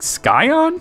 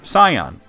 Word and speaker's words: scion: though james has some weird pronunciations like sky on really that's not even a fake made up name it's a real word scion not sky on look at this [